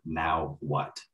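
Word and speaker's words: Nahuatl: you go and uh most americans have a really hard time pronouncing that so just saying like now what that's how you pronounce it that's the language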